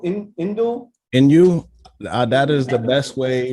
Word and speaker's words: Inoue: How do you pronounce his name? Innuendo? Inoue.